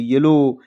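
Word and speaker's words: yellow: डी ओ W window कहीं भी ओ डब्ल्यू लिखा हुआ ओ डब्ल्यू कहीं भी लास्ट में लिखा हुआ हो तो आपको ध्यान रखना है कि ओ की मात्रा से ही पढ़ना है।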